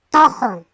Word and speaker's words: tuju: Se escribe tuju, se pronuncia tojo.